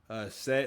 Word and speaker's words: Said: So, I believe his name is Say or Yeah. So, it's spelled like said, but his name is Say.